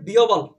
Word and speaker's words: বিহ্বল: এটা উচ্চারণ হচ্ছে বিহ্বল।